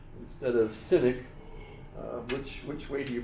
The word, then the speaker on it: cynic: You might pronounce it kenic instead of cynic. Which which way do you pronounce the letter C? You know, it's if you look it up in in Greek, it's K. So it would be kynic.